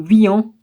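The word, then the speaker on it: Vihan: Haut-Mouton et Ener, Viam, le H on ne prononce pas, V-I-H-A-N ou Vian.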